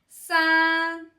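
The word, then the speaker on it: 三: Ensuite pour dire tr on dit sa qui utilise le aussi le premier ton sa dans le mot français sa et on révise E R S.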